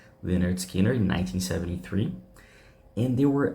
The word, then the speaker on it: Lynyrd Skynyrd: released only their first album which was called pronounced leard Skinner in 1973 and they were about to record